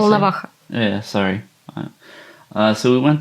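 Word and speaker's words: Волноваха: All right, so we went to Valhalla, to the hospital. Is that how you say it? Volnovakha.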